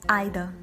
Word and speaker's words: either: And in British pronunciation we hardly use any R sound at the last. It's either, either. There is no R sound.